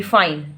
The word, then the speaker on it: fine: जैसे कई बार आ जाता है ना कि फाइन, FINE, फाइन, तो हम क्या पढ़ते हैं, हम फाइन पढ़ते हैं, ई को छोड़ देते हैं, फाइन।